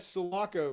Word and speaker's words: Sulaco: It's SULACO, Sulaco.